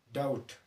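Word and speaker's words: doubt: پای کې ټي راسي، بي د کلمې په منځ کې استعمال شي او وروسته ترې ټي راشي، نو دلته بي ساکنه ده یا سایلنټه ده یا اواز نه ورکوي. لکه ډاوټ، دلته بي نه تلفظ کوو.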